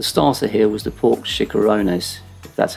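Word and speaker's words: chicharrones: on board the starter here was the pork chikoronas that's how you pronounce it which is pork belly with Puffs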